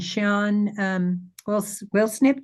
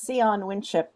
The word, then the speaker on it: Sian Winship: There's Kari and Sian Wilsnip. Do I pronounce that right? Actually, it's Sian Winship, but I answer to anything.